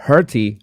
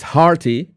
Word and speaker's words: hearty: Hurty. Hurty meal. It's hurty, right? How do you say that? Hurty. It's hearty. Is that this heart?